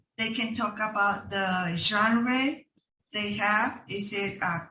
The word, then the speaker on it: genre: awkward but because but it's because it comes from a french word okay uh you can